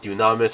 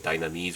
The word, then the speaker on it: Dunamis: In Korea we call it Dunamis. I know like in other English versions I believe I've heard various pronunciations like Dynamis or Dynamis or whatever.